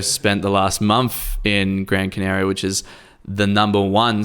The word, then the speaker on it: Gran Canaria: now uh first thing you're saying it wrong you're saying the whole kind of islands it's they're eight counter islands yeah yeah you gotta say gran canaria that it has the